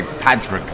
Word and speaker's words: Padraig: I'm tempted to say Padraig, like Patrick, but more of it with more of a G instead of a TR.